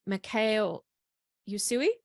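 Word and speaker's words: Mikao Usui: And I've had some really cool experiences, and I've seen, and I hope I pronounce this name right, Mikhail Usui.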